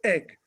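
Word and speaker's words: Eigg: not too far away called egg although it's spelled e-i-g-g and that was owned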